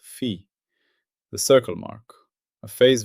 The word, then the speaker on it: phi: Up to now, we've built the alphabet of the pure phi language. We began with phi, pronounced fee, the circle mark, a phase value assigned to each event in the minimal support X.